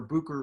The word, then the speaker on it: Bucher: i'm pronouncing it correctly butcher or booker vineyard what pinot clones do you enjoy working with uh bucher is the the correct uh pronunciation and uh you know